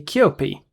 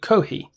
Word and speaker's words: 커피: Additionally, another Korean user reported seeing a poster for kohi, which is the Japanese pronunciation of coffee. Koreans say kyopi. We never say kohi.